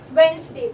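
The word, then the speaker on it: Wednesday: ठीक है, वेंसडे बोलते हैं, ठीक है, तब ये डी साइलेंट होता है, ठीक है।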